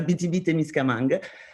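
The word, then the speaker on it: Abitibi-Témiscamingue: this strange name is no one can pronounce it's a bittybitte misca manga uh this is how you pronounce is considered and defined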